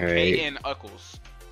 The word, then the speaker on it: Knuckles: K-N Uckles.